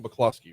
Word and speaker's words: McCloskey: And it is pronounced McCloskey, right?